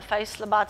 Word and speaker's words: Faisalabad: Obviously, that's Karachi, Multan, Peshawar, and a lot of small places like I don't know if I pronounce it well, Faisalabad.